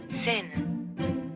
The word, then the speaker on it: Seine: Maybe I should try to pronounce French. Seine.